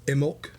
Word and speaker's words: Imbolc: little bit more or imul as the the uh acceptable uh uh alternate right um which is very strange to to not have that b in there for imul um it's